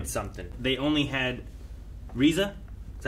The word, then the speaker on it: RZA: They only had Riza, is that how you say it? Riza.